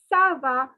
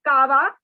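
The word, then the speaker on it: ça: como cuomo so como next two words are saba please note it is not kava okay it is not ka it is sir so the whole question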